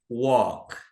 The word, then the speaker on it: walk: Esse L aqui praticamente não pronuncia. Então ela não diz walk, tá? A gente pronuncia walk.